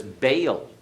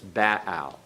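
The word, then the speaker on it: Baal: azer all right is actually what we pronounce as Bale in our English pronunciation of the title of the Canaanite deity in modern Hebrew it's in the classical Hebrew it's Bao okay the next one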